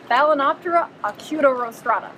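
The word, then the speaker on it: Balaenoptera acutorostrata: It rhymes with Hakuna Matata. What? It's Balanoptera acutorostrata, which means pointy nose or pointy rostrum.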